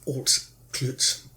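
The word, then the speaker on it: Altclut: eight the whetstone of alt klutz and altclitz is spelt a-l-t-c-l-u-t if a brave man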